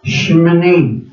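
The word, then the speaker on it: Shemini Atzeret: Shmini, can you say Shmini? Yung medyo tagip yung isa nila. Shmini. That's how you pronounce it.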